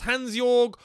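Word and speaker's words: Hansjörg: his name here hansjorg i think it's hansjorg i don't think that jay is pronounced hansjorg with reveals approach interested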